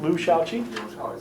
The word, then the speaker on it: Liu Shaoqi: it simple it's written by a man named Liu Shaoqi was I've been close on the pronunciation Liu Shaoqi thank you it was written by him we'll